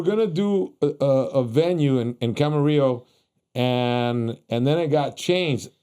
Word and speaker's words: Camarillo: It's Camarillo.